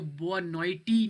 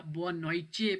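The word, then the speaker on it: boa noite: इसके अलावा लास्ट में लफ्ज़ है टी, तो टी जो है सी एच मतलब चे की आवाज़ निकालते हैं। पीछे आए, गुड मॉर्निंग मैंने इसको बोआ नॉइटी नहीं पढ़ा, बोआ नॉइचे पढ़ा है, क्योंकि जो टी है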